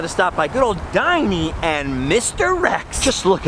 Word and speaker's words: Dinny: I used to always call this one Dinny because its name is spelled D-I-N-N-Y, but it turns out its name is actually Diney.